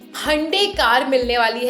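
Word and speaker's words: Hyundai: एंड अब मैं अपनी कार को हुंडई कार नहीं बोलूँगी, अब मैं हंडे कार बोलूँगी, जो उसका रियल प्रोनाउंसिएशन है।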